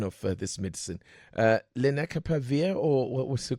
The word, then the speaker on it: lenacapavir: Lenacapavir, or what was the correct pronunciation? Yes, that's not bad. Lenacapavir.